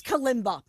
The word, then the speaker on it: kalimba: How do I pronounce? Is it I think kalimba? it's kalimba.